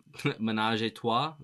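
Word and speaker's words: ménage à trois: it said on Wiki that it's about I butcher the the what it's actually Manaj Tu there you go um yeah what a song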